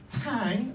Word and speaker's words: Tang: long time I say it's Tang like Tango without the o um I say that